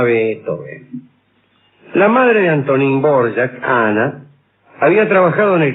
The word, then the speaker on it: Dvořák: Dvořák es Dvořák. Se escribe así y se dice así si usted quiere. Si usted no quiere, dice Dvořák. Nació el 8 de septiembre